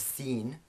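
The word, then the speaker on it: سين: We have seen, which is the English s, the equivalent is the English s, words like sun.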